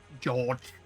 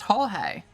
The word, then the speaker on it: Jorge: George. It's pronounced Jorge.